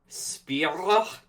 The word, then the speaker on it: Spyro: I'm assuming you pronounce the name like the Greek food. So Spyro.